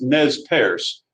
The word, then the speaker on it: Nez Perce: was the nez paris tribe now it's it's pronounced nez perce uh ernest purse but it's really never said uh it means pierced nose that's literally what the french had named these natives the napa say or nez perce and they were in uh